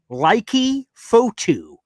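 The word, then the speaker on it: Leki Fotu: and I made sure I got the name pronunciation right because I looked up this player doing interviews. His name is Laiki Fotu.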